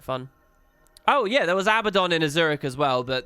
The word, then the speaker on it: Abaddon: Apparently the way they pronounce Abaddon is wrong. It's Abaddon.